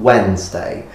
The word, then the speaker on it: Wednesday: did warden's Day become Wednesday well that is because if you look at the actual spelling of the word when you say Wednesday you're not actually pronouncing all the letters in there because in Middle English